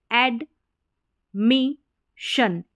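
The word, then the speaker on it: admission: एन तो admit से एड मिशन एडमिशन एडमिशन तो यहां पर शन साउंड आ रहा है एस आईओ एन के लिए और एडमिट में हमने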